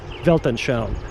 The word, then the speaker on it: Weltanschauung: It's written with a V.